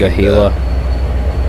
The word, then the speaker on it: Monongahela: I can't pronounce its name. Monongahela.